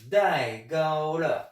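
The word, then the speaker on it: 戴高乐: le nom de famille, ils l'ont transformé en 3 syllabes, et ça a donné Dai Gaulle. En phonétique, ça donne D-A-I quatrième ton, G-A-O premier ton, L-E quatrième ton.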